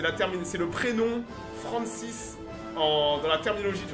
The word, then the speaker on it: Francis: terminologie du renseignement anglo-saxon donc ça s'écrit comme France mais c'est la prononciation anglaise avec un s à la fin donc c'est Francis comme comme Francis en français d'accord dites-vous que